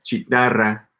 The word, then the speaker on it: chitarra: Note that chitarra, guitarra, guitarra, guitarra. Gotcha. I mean, it's pronounced as if it were guitarra, right?